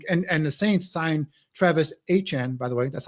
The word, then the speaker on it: Etienne: to sit there and the Saints signed Travis Etienne, by the way. That's how it's pronounced. Etienne.